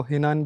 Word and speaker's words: Henan: आज के इस वीडियो सेशन में हम खनान मेडिकल यूनिवर्सिटी को कंप्लीट विज़िट करेंगे। इसको चाइनीज़ प्रोनाउंसिएशन में खनान कहते हैं, आप इसको हिनान भी कह सकते हैं।